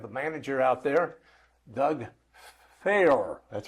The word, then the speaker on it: Faour: We have the manager out there, Doug Fair. That's right. That's f a r. You got it. And I have I pronounced it right. You did. Like mayor but fair.